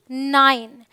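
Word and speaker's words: nine: I sound देखते हैं I sound भी आता है सो एन आई एन ई नाइन जब लास्ट में ई हो और बीच में आई हो तो हम आई करके बोलते हैं ऑलराइट सो इट्स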